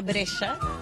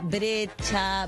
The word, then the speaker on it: Brescia: Bueno, mi mamá es Liliana Brescia, que es su apellido paterno, digamos. Brescia, como la ciudad, se escribe. Y el dilema era que era un apellido difícil de pronunciar. Entonces le decían Brescia, Brecha, Brescia, Brescia.